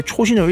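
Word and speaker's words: Chosin: 좀 쌩뚱맞은게 있는데 바로 초신입니다 뭐 이렇게 영어 발음이 되어 있는데 초신을 읽게 되는데요 이게 일본의 집을 기반해지도록 전투를 벌이던 미군이 일본 발음으로 초신을 읽게 되어 나온 한국의 지명 바로 장진 장진호 전투를 의미합니다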